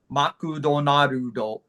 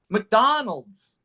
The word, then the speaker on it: McDonald's: For example, makudo narudo. Yes. Makudo not. In English, it's McDonald's. Mhm. McDonald. But when I say McDonald's, Japanese hear donuts. They don't hear, it's not donuts, it's McDonald's.